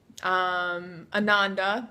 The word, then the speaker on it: Ananda: sister is another one Ananda Sanskrit you know rhymes with Amanda and Sanskrit for Bliss